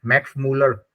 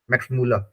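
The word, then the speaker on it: Müller: मैक्स मैक्स भवन है मैक्स मूलर मैक्स मूल ठीक है उसको मैक्स मूलर बोल रहे हैं लेकिन जर्मन में उसको मैक्स मूल बोलते हैं ठीक है मक्स मूल ऐसे साउंड्स चेंज हो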